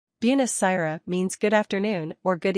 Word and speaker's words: buonasera: Buonasera means good afternoon or good evening. Pronounce it Buon-a-sera.